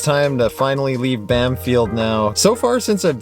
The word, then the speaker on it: Bamfield: first nations people of the area just kept pronouncing it bam field instead of banfield and it just stuck fun